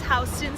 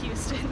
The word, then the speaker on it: Houston: to New York, but this is Houston Street, not pronounced Houston Street.